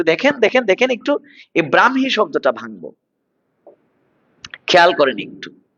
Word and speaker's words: ব্রাহ্মী: ব্রাহ্মী কখনো ব্রাহ্মী কখনো ব্রাক্ষী এরকম বলবেন না ব্রাহ্মী লিপি ব্রাহ্মী লিপি নয় ব্রাহ্মী লিপি ব্রাহ্মণবাড়িয়া নয় ব্রাহ্মণবাড়িয়া ব্রাহ্মণবাড়িয়া ব্রাহ্মণ নয় যুক্তবর্ণ ভাঙলে হ ম উচ্চারণে ম হ ব্রাহ্মী লিপি ব্রাহ্মী লিপি